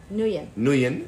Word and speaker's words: Nguyen: Nguyen.